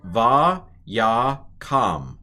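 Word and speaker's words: וַיָּקָם: So this is va ya kam, vayakam.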